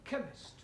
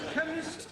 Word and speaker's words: chemist: Ali yes please spell chemist oh blame me k e chemist does not begin with a k it sounds like it begins with k CH H but that